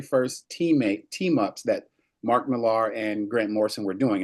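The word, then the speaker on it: Millar: teammate teamups that Mark Malar and Grant Morrison were doing. Am I correct? I don't know. Probably. Probably. Did they bring you in? Miller. Say it again. Pronounces as a Miller.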